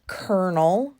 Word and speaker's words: colonel: know the word kernel it's spelled c o l o Nel why is it pronounced kernel cuz there's no R in that word I don't know the